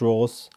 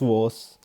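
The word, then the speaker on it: Voss: is written by uh Chris Ross Chris woss apologies I mispronounced the name Chris was is an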